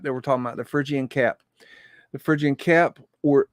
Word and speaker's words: Phrygian: let me play this virgin virgin virgin okay phrygian okay that's how you say it okay that that's